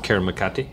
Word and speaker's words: Karamakate: So there's a great scene where one of the characters, I'm going to pronounce it wrong, Karamakate? No, it's good. That's a good pronunciation.